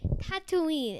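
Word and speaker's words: Tatooine: How do you pronounce that? Tattooine.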